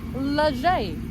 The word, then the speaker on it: Les Gets: And then we came to Leger. Is that how you say it? I'm not too sure. I'm not good with this stuff. It's spelled lizg, but I think it's said leger.